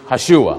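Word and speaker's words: ישוע: And Hebrew, the way you say the name Jesus in Hebrew is Hashua, which is correct.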